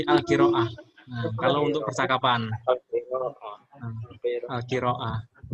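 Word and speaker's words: القراءة: untuk percakapan kalau misalnya ada tak marbut seperti ini yang bundur ini di akhir itu dibaca ha jadi ha mati jadi bacanya enggak perlu alqiraatu tapi alqiraah Nah kalau untuk percakapanqah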